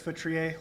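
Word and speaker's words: Feutrier: Hi, my name is Futriier. last name is spelled F as in Frank, EU, T is in Tom, R I E R.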